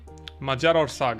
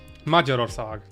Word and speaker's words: Magyarország: Oh, the accent's last. Okay. Magyarország, I think is the proper way to say it.